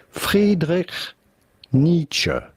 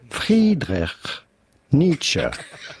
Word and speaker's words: Friedrich Nietzsche: Now, his name in German would normally be pronounced Friedrich Nietzsche. Friedrich Nietzsche. However, in English, his name is normally pronounced Friedrich Nietzsche.